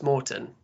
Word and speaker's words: Maurten: Uh, you're pronouncing it correct, Mort. Um, so yeah, I think we hear a lot of different pronunciations and it can be a little confusing. It's a Swedish company, so need that Swedish accent.